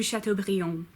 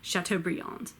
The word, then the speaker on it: Chateaubriand: guy who wrote Dangerous Liaisons Francois shiny de chateaubriand from swap her nay do sharp tool Billy Francois rené de chateaubriand but in both English and French most the time you just call him Chateaubriand stone died stone died stunned al-shara Baudelaire shall